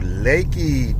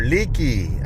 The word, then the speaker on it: Leakey: Here we're coming into Leakey, Texas, or Leakey. I think it's actually Leakey the way it's spelled, but it depends on what Texan you talk to. Some people say Leakey, I say it's Leakey.